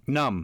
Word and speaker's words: numb: Now, B is an interesting silent letter. Numb. Because, Limb. yes, and often after M's, right?